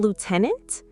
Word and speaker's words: lieutenant: In Britain, we say lieutenant. Lieutenant, but it's spelled L-I-E-U. I know, it makes no sense at all. But in America, you say lieutenant. Lieutenant, yes, much closer to the spelling.